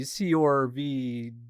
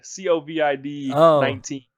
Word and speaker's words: COVID-19: COVID, COVID-19. There's no R in there.